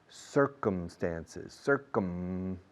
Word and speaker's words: circumstances: Circuit, circle, circumference, circumnavigate, circumstances, cerrando la boca con la M, por favor.